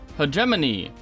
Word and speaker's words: Hegemony: obligated to talk about Hegemony, a new asymmetric board game about class wars. And yes, I actually said that word right, it's just pronounced really freaking weird.